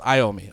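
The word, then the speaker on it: Iommi: so Tony Tony yomi in Spanish it's yomi in regular English it's iom me I get it okay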